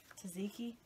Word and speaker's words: tzatziki: the name of it tzatziki i would think that the t was silent the second one is that what it is yes okay that's got cucumbers